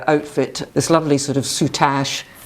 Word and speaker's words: soutache: And she's got this wonderful outfit, this lovely sort of soutache. Is that how you pronounce it? Soutache? It is soutache.